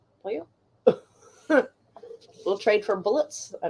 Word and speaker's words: pollo: I, well, I mean, it helped that you explained it because, like, I thought it was Paulo, which I mean, it looks like it would be, but pollo.